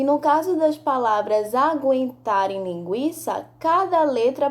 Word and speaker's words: aguentar: leia estas palavras em voz alta sangue enguiça aguentar linguiça nas palavras sangue e enguiçar não pronunciamos a letra u vamos repetir sangue e